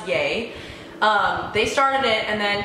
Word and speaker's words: YEA: a so it's about the gap but it's pronounced yeh they started it and then Kidd Kraddick had